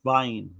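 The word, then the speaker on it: Wiene: You know, because a lot of the W's are I think it's pronounced with a V because it's German, right? So, I think it's Robert Vain.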